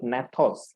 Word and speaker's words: gnathos: okay the word नेथोस, ji silent है, नेथोस का मतलब है जॉस।